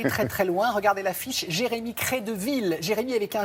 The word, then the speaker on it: Gérémy: Il s'appelle Jérémy, mais ça s'écrit avec un G.